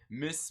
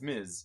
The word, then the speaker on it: Ms.: People say Miss Marvel too much. Yeah. No, it's Ms. Yeah, Ms. Marvel. It's MS, or do they do MZ? Either way, but yeah, it's Miz. Yeah, it's Miz.